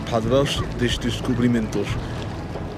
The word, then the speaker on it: Padrão dos Descobrimentos: If you want to pronounce the name of this thing properly, the Padrão dos Descobrimentos, to get that Portuguese tone to it, you have to kind of start sounding a little bit Russian, stereotypical Russian.